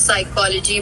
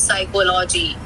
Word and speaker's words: psychology: so we end up pronounce uh vocalizing the silent letters also sometimes for example it's psychology but some people also call it as psychology okay yeah it's psychology because that's how it's